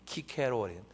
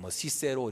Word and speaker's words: 키케로: 여러분이 잘 아는 로마의 정치가이고 철학자이고 웅변가였던 키케로, 다른 나라 발음으로는 시세로 이렇게 얘기도 하지만, 이분이 자기 정적인 안토니우스에게 피살되잖아요.